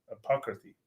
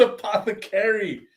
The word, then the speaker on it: apothecary: say it again me yeah apocracy no it's Apothecary Apothecary Apothecary God damn